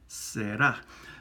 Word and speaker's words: será: Well, we put an accent on the end to pull the stress out to the end, será. But it's a single R, so you're not going to say será. That would sound funky in Spanish.